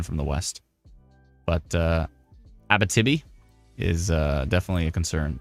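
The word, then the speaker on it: Abitibi: help me hi what do you want to pronounce or ABV ab ab I got to think about AB like ABA ABA Tibi ABA Tibi yeah if you're anywhere near ABA Tibi right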